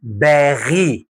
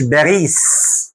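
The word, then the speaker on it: Paris: اسمها باغي مش باريس، اسمها باغي.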